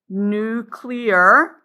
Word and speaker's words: nuclear: So this is the nuclear, which is spelled like new and then clear, nuclear model.